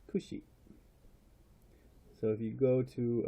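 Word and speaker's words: 串: this one actually means shish kebab and it's pronounced Khushi so if you go to a restaurant and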